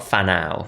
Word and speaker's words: Whānau: Now, you then set up your new organization, and I want to pronounce this correctly, which is, we are Whanau.